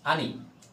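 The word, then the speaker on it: 姉: সহকারে ভিডিওটি দেখবেন প্রথম হচ্ছে আনে আনে হচ্ছে আনি আনি যে কথাটার অর্থ হচ্ছে আনি হচ্ছে বড় ভাই আমি উচ্চারণটা লিখে দিছি এখানে উচ্চারণ বাংলায় উচ্চারণ আনি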